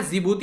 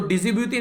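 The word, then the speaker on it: Djibouti: है, एरिट्रिया हो गया, जिबूती हो गया, सोमालिया हो गया और इथियोपिया हो गया, ठीक है। तो डिजिब्यूटी नहीं जिबूती इसको बोलिएगा, यहां पर डी साइलेंट रहता है।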